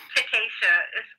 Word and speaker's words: Takesha: Takesha. It's hard to pronounce. Ta. K. K. Sha. Sha. Takesha.